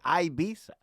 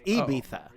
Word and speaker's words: Ibiza: i was criticizing you the i you say ibiza it's ibiza yeah okay so i'm all right i'm off